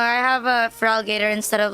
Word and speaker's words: Feraligatr: Feraligatr. Like this time I have that one on my team instead of like instead of choosing a feral alligator. Feraligatr. Yeah, Feraligatr. Hi, Gian. Like, I have a Feraligatr instead of like a Gyarados.